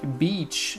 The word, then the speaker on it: beach: Ici, vous voyez que c'est un I court, bitch. À ne pas confondre, je le mets en majuscule avec beach. Beach, c'est la plage. Et vous voyez que ça a vraiment deux façons de prononcer bitch et beach.